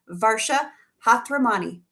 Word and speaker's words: Varsha Hathiramani: Please welcome one of our fabulous KHM agents, Varsha Hathiramani. And did I say it right? You did.